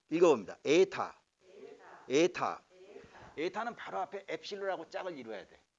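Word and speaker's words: ἦτα: 에타. 에타. 에타. 에타는 바로 앞에 엡실론하고 짝을 이루어야 돼. 엡실론 단모음 에. 에타 장모음 에.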